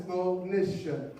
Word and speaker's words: Monisha: And just make sure you say her name right. It's Monisha.